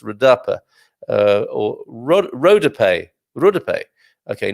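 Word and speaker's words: rodapé: be our palabra dodea is um should be pronounced radappa or rod rodape rudope okay not read up as i was trying to say and maybe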